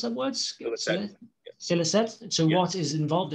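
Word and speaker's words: Scilicet: I pointed out that you could refer in the answer to Scrag as radiophony in the last, how do you pronounce that word? Silicet.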